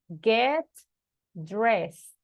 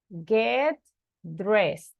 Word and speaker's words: get dressed: dressed no we say get dressed like with the letter T at the end repeat everybody get dressed get dressed now number six what